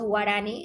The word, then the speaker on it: guaraní: Las nacionalidades y pueblos en el Ecuador está conformado por nacionalidades indígenas como los quichuas, los shuar, los ashuar, los los guaraní, así se pronuncia, guaranis, y tenemos muchos más, porque recordemos que tenemos alrededor de 15.